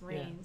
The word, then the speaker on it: Raines: So it's not like Rain. Rain. It's rains.